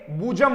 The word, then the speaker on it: bosom: इसको BOSM को बॉसम ना बोलकर क्या बोलेंगे? बूजम बोलेंगे।